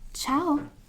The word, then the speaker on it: ciao: it says which means hello and you can pronounce it as ciao it's exactly identical to hello you're entering in